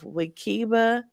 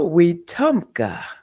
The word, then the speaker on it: Wetumpka: And she was raised as the third of the 17 children on a 60 acre farm of Wikiba, Alabama. Is that I pronounce that right? No. We Tumpka. We Tumpka.